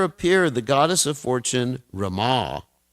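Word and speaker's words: Ramā: the goddess of Fortune Rama this is important we pronounce that word properly instead of Rama Rama is Lord Ram Rama who was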